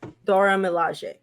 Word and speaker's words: Dora Milaje: And we saw that, I'm going to say it wrong, but the Dora Milaje. Mm-hmm. Am I saying it right? Or Dora Milaje. That's right. Dora Milaje.